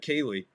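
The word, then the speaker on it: Kahnle: As soon as they brought in Cayley, because you can't pronounce his name, the N's silent, so whatever.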